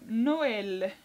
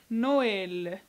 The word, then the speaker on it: Noël: exemple vous allez comprendre comme noël noël donc ceux de 1 montre qu'on doit prononcer le nom le haut nos où l ai eu l on doit pas négliger le e ou bien le aux